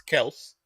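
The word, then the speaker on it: Kelce: say his name correctly it's Kelsey Travis Kelsey is just Kelsey sorry yeah it's been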